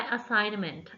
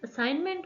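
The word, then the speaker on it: assignment: I have done my असाइनमेंट असाइनमेंट में जी हमारे पास साइलेंट होता है लिखा जाता है लेकिन पढ़ा नहीं जाता देन हमारे पास है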